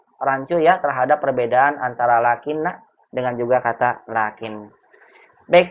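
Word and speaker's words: لكنّ: Lakinna. Kalau Berarti bacanya lakinna.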